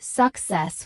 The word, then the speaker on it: success: The related word success is pronounced success with clear. Stress on the second syllable.